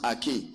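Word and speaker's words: ἀρχή: Arche. You understand? Pronounced Arche.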